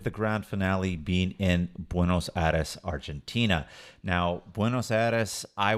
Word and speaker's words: Buenos Aires: European Vibes here in Buenos Aris I noticed how you're pronouncing buenos Aris in the US we always say Buenos AAS right but when you were in Argentina people are saying it that way of course yes and